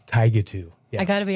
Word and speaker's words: Tigatu: You did, which was amazing, because even our parents at times still say it incorrectly. It's Tigatu.